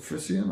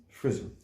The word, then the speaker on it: Frisson: Is it Frisian or Frisson? Frisson. Frisson. And first of all, can you tell us in your own words what that means?